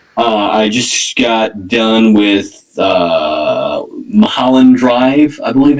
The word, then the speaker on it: Mulholland Drive: I just got done with Mulholland Drive, I believe it's pronounced. Yes, Mulholland Drive, which is a local weird movie, but it's Lynch.